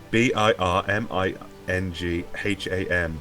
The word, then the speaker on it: Birmingham: Buring ham. Yeah. B I R M I N G H A M.